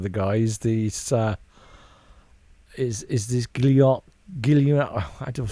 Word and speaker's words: Guillaume: Guillaume le Million. If Guillaume? it doesn't rhyme, you're not pronouncing it right.